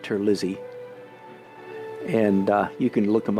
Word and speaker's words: Terlizzi: I think in Italian it should be pronounced Terlizzi, but it's been Americanized, I think, so he pronounces it Terlizzi.